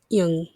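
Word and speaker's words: ㅇ: This is a silent letter that's coming next. We'll be referring to it as yung. So yung. So when you have yung with ah, it's going to become just ah. Ah. It is silent. You'll never hear this consonant ever have a sound.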